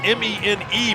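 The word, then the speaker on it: Mene: Actually has, it's M-E-N-E, but pronounced Men, as you said.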